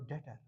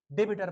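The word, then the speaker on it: debtor: Class, that is your डेटर। डेटर B silent, डेबिटर परो न कह आम तौर गलती कॉमर्स स्टूडेंट, ये करो सोरे ठीक। इट इज नॉट डेटर डेबिटर, इट इज डेटर।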